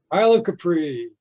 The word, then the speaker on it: Isle of Capri: No, it was the Isle of Capri. Isle of Capri. There you go. Rhymes with Isle of Debris.